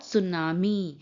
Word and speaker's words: सुनामी: यस यह है सुनामी टी एस यू एन ए एम आई सुनामी T silent होता है इट्स कॉल्ड सुनामी सुनामी में क्या होता